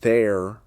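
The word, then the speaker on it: þeir: The old Norse word there, pronounced their was introduced gradually as Norse speakers settled across northern and eastern England.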